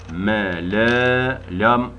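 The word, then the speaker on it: لا: mele me le ü Lam Elif bu la diye uzatıyor Lam Elif daima la okunurdu li olamaz lu da olamazdı me la ü ü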